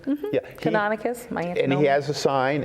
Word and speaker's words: Canonicus: know I pronounced his name wrong, it's not Canonicus, how do you pronounce the Sachems name? It's Canonicus? Yeah. Canonicus, and he has a sign, and then Manatanani